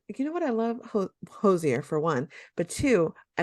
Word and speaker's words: Hozier: uh next up on the pop culture pop-up hoisier uh Jose how do you say it who's here who's there Hozier Hozier who's you let's say it again well